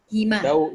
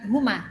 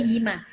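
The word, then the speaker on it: هِمَا: Bukan huma, jauh hari hima. Karena dia mudhof ilaih. Jadi kalau huma, kata huma itu ya jadi mudhof ilaih atau sebelumnya itu huruf jar, maka haknya dibaca hi, Pak. Jauh hari hima, bukan jauh hari huma, bukan huma lagi tapi hima.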